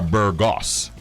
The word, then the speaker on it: Burgos: name is bird Jess you are Burgos you know I'm from Panama so you know we're probably cousins and sometimes oh okay that's the correct pronunciation ah so if you're